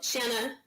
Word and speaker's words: Shanna: this a lot uh Shanna Shanna Banana that's the pronunciation um so Shanna shine